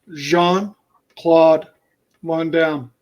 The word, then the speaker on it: Jean-Claude Van Damme: It's actually pronounced this way. It's Jean-Claude Van Damme.